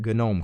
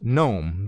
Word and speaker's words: GNOME: me nuts with that gun ohm crap don't you know it's pronounced gnome the G is silent if your are one